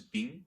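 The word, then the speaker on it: 冰: The characters of ice, which is bing in Chinese pronunciation of the characters, literally means water reverted.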